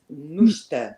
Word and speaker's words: Nuchter: And That's the English pronunciation. In German, it's pronounced Nuchter.